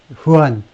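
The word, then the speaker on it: Juan: 이렇게 이 사건에 있어서의 담당 판사로부터 담당 판사 이름이 후안 M. 머천이고 후안 J가 이제 H 발음이 나죠.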